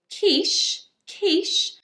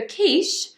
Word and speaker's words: quiche: Quiche, which is said actually in this case as a sh.